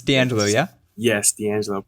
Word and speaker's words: Deangelo: Yes, Deangelo. Pronounced pretty well, too.